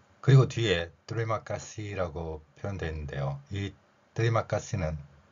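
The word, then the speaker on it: terima kasih: 뒤에 마카이라 표현되 있는데요이 뜨리마까시 티를 쌍 디귿으로 표현하고요 영어의 알파벳이가 다양하게 소리가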